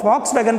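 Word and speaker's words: Volkswagen: आपने देखा होगा कार के ऊपर ऐसे 2 W बने होते हैं, है ना, तो वो फॉक्स वैगन के नाम से उसका उच्चारण फा करके निकलता है, फॉक्स वैगन।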